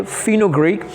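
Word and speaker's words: fenugreek: अगर आप इसको ब्रिटिश में सुनने की कोशिश करेंगे दे विल से फिनोग्रीक.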